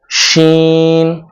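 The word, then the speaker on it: شين: তারপরের হরফ হলো শিন। শিনটা উচ্চারণ করতে হবে জিহ্বার মধ্যখান উপরে তালুর সাথে লাগিয়ে তারপরে মুখ থেকে বাতাস বের করে শিন উচ্চারণ করতে হবে শিন শিন শিন শিন শিন শিন শিন শিন।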